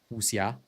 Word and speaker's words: wuxia: Or sorry, I should use the proper pronunciation, wuxia, right?